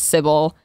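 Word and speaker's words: Cibele: And this is the spelling she used, and she pronounced it Sybil.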